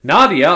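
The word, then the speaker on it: Nadja: much like most reporters Nadia or at least that's how she pronounced her name in the episode I'm not sure if that's correct since the letter J rarely makes an eye sound she is manon's Mother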